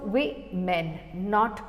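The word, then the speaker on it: women: वुमेन हो जाता है और इसका प्रनंसीएशन भी अलग हो जाता है व ओ को यह व ए की तरफ प्रोनाउंस करते हैं सो वे में नॉट वो में सो स्पेलिंग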